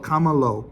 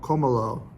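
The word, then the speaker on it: Combalou: aged in the caves underneath the town called kamalo como lo pronunciation again terrible but c-o-m-b-a-l-o-u so they're specific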